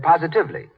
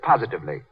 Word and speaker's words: positively: Mary Jane said positively. The word is positively, as in, the way Lux Flakes cut down stocking runs is positively miraculous.